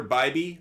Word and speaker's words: Bybee: up on the screen Tanner Bybee I believe is how they pronounce his name it's not Bibby like I always thought it was it's Bybee and then there's Patrick Sandoval